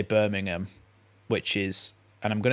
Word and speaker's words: Birmingham: Birmingham in Britain but Americans will say Birmingham and they'll pronounce the h which is the difference